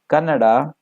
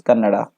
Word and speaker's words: Kannada: without letter for example if it is Canada people tend to pronounce it as colored but the actual word is Kannada and its act when